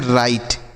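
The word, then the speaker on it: right: देखिए तो पहला शब्द है बच्चों आर आई जी एस टी तो इसे हम पढ़ते हैं राइट।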